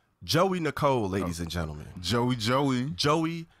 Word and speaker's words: Geauxie: Geauxie Nicole, ladies and gentlemen. Geauxie Nicole. Okay. Now it's spelled Geauxie. Yeah. That's how they spell in Joey, but it's pronounced Joey, like Joey.